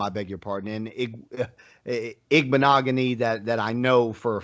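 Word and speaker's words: Igbinoghene: There's some of them like Owegbunam and Igbenogany that I knew, or Okuibunam, I beg your pardon, and Igbenogany that I know for a fact that's how it's pronounced.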